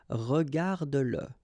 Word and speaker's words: regarde-le: Remember that if you've got, in some situations, the pronoun le, and if it comes after your verb, like in that case, then you will have to pronounce it. Okay, so regarde-le, regarde-le.